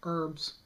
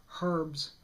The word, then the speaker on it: herbs: me when you criticize the way we say herbs or as you say herbs it's not a bit about us dropping the h because we're french that